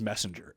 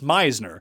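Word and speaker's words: Meissner: there Matty Schmidt is at 21st uh MCL Meisner again at I don't know why I want to read it as messenger every time I see it I I just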